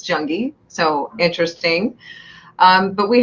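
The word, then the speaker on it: Junge: name Rhode interesting because my last name is spelled j-u-n-g-e nobody ever does the e at the end I get Jung junji sometimes janji but it's junkie so interesting um but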